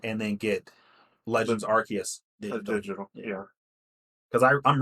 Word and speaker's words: Arceus: Like everybody pronounces it different, like Arceus, but I'm pretty sure it's Arceus. It's his actual pronunciation. It's Arceus. That's stupid.